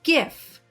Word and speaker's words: GIF: GIF is pronounced GIF with the G sound.